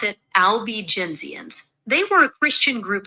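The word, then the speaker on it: Albigensians: You pronounce it albenzians.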